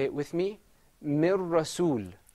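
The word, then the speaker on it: من رسول: This is pronounced with idgham. Mir Rasul. Say it with me. Mir Rasul. Mir Rasul.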